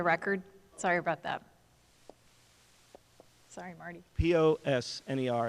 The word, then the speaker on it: Posner: sorry about that sorry POS NER and it's pronounced Posner thank you our next